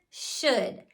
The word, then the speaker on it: should: then we'd go through first sound shh my students already knew their Digraph so that was totally normal uh it sounds like uh it's spelled o-u-l that is the part we need to memorize by heart and then the last